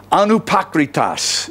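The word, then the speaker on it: ἀνυπόκριτος: very long Greek word, anupakritas is the way you pronounce it.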